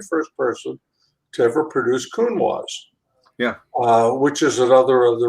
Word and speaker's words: Counoise: And I say, you pronounce it Counoise because in French, if you cover the S with a vowel, you pronounce the S.